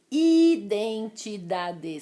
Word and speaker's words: identidade: também me mata identidade não é ih identidade e não tenho ele em mim não tem som nasal então é mendigo mortadela identidade sem esse som nasal o próximo desafio pronúncia